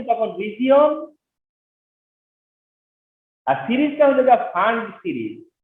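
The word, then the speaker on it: Pfund: FIR হচ্ছে তখন region, আর সিরিজটা হচ্ছে ফান্ড সিরিজ। তোমরা নোটিস করবা যে এইসব স্পেলিং কিন্তু অনেক সাইলেন্ট লেটার আছে এখানে।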